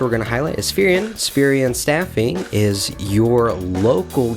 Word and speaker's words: Spherion: Spherian. Oh, Spherian. Spherian. Sorry, Yeah. Brian. Not Spherion.